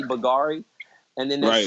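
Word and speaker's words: Bvlgari: Yeah, like somebody not knowing how to say Bulgari. And then they say they try to sound it out how it's. They pronounce the V. This that Bulgari right here.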